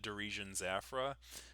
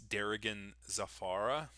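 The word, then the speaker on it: Darigan Zafara: the what I was recent I called it Derian Zaffra. Apparently it's Derigan Zafara which apparently that's how you pronounce those words and unfortunately I have called it Derisian Zaffra for so long that uh I uh have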